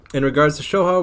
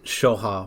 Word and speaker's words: Shoha: You're basically saying it right, it's just Soha.